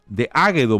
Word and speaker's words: Águedo: Entonces, comparto con ustedes una reseña biográfica de Águedo Morales Reina. Águedo es con acento en la A.